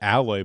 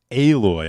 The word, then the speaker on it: Aloy: make them uglier uh out I I always pronounce it alloy but apparently it's pronounced aloy I've learned that aloy good old fat face